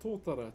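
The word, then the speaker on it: Totara: Um, so this timber here is called Tora. T O T A R A is how you spell it.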